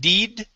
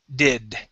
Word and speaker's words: did: good okay let's do the short i sound on the word did instead of deed did did good okay um this